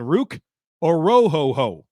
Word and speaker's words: Orhorhoro: from Ohio State, Braden Fiske from Florida State, and Ruke Orhorhoro from Clemson. Yes, that is the correct pronunciation. I looked it up. You can miss me with any complaints about how I said his name.